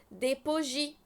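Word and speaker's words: bougies: حرف ساكن لا ينطق بوجي بوجي يعني ايه بوجي الشموع برض الاس ماتنطقش بوجي المشروبات خلي بالك ان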